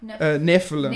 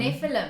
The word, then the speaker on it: Nephilim: So, that's like linked to all sorts of Is it the Nephilim? Am I saying it right? Nephilim. Nephilim.